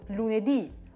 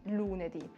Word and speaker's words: lunedì: Hier ist die Betonung tatsächlich ganz am Ende und deswegen ist es auch grafisch zu sehen und man muss es auch dann so aussprechen, also lunedì und nicht lunedì.